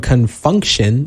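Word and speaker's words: Con Funk Shun: So, it is the lead single from Confunction, and that is spelled C-O-N, Funk, F-U-N-K, and then Shun, S-H-U-N, off their 1982 album.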